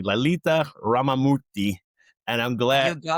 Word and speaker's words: Lalitha Ramamoorthy: with the CEO um and I want to pronounce the name correctly Lalita Ramorti and I'm glad you got that I